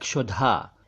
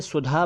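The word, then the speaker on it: क्षुधा: minute एक शब्द है शुधा इसे सावधानी से बोले अगर इसे सुधा बोल दिया तो अर्थ का अनर्थ हो जाएगा क्योंकि सुधा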